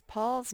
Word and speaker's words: Paul: down right here because paul's name has an a-u and a-u makes the ah sound so paul here's some